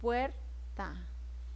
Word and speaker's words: puerta: Acá en puerta, separo puerta. ¿Por qué el cerrito está así? Porque puer es la sílaba que tiene mayor fuerza de voz. Entonces la sílaba tónica.